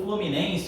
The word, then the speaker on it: Fluminense: é a senhora que se Estendeu é a sílaba tônica uma torcida do Fluminense o Fluminense é tanta cor vai gostar tanto de dança pela tem um passinho né olha só ó Fluminense de novo Fluminense olha se vamos Estendeu foi